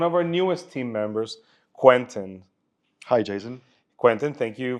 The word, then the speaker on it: Quentin: So, Quentin or Quentin, what do you prefer? If you can pronounce it correctly, Quentin.